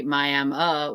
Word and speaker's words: Miami: So, Hannah, do you say Miami with the A or Miami with the I?